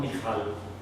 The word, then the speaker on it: Mikhail: soul starts on me some people it michael but for me that sounds different i call him mikhail the hebrew pronunciation she loves dave she's